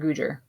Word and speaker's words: Gujjar: um it's actually bupinder gujjar gujar okay because i thought it was gujarat as well but um then i realized that it kind of rhymes with his first name okay our new elbow